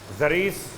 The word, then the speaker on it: ضریس: لیے، امام کے سامنے ضریس کنانی، ضریس شاید تلفظ آپ کو واضح نہ ہو رہا ہو، سواد کے بعد زواد آتا ہے، زواد رے یہ سین، ضریس نام تھا۔ ایک شخص کنانی قبیلے کا حوالہ تھا.